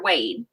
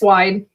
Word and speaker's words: Wide: Is it Wide or Wade? It's Wide. Okay, I always say it wrong.